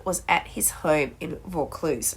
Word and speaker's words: Vaucluse: uh they were from vaucluse is that a wrong before they got called in folklore or something like that because I wasn't sure of them pronunciation it's a vaucluse so she made a